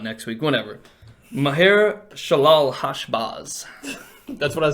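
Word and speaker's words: Maher-shalal-hash-baz: You can cheat next week with the pronunciation of whatever, or not next week, whatever. Maher Shalal Hashbaz.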